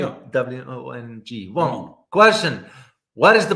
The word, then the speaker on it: Wong: Wong, did I pronounce it correctly? Yeah. W-O-N-G.